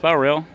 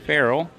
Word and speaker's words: Frell: A lot of people uh pronounce that Ferrell, but it's actually Frell.